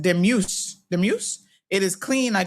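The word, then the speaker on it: Dumus: Pronounced demuse.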